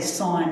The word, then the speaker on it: sine: I am always talking I always say sign not sin because it's so much easier to just call it a real thing it's only one syllable anyway so s cosine